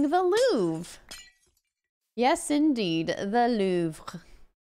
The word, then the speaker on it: Louvre: balloon yes indeed the Louvre if you want to say it correctly you should say move it's kind of hard to say so I just say the Louvre can people join your